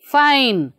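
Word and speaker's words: fine: ಆದರೆ ಇಲ್ಲಿ ನೋಡಿ ಎಫ್ ಐ ಎನ್ ಇ ಫೈನ್.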